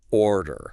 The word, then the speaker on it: order: I push the air out on the or and I completely relax on the dare. Order.